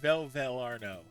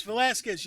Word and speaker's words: Velasquez: I look forward to serving for forward to serving with you, Officer Velro. That's Velasquez, you synthetic simpleton. Mispronounce my name again and I'll vape a hole right through that blank face of yours and fix that stupid stutter.